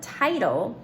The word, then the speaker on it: title: Now, the reason we don't have a 2 T's in the middle is because this first syllable in the word title its I is open and has to say its name.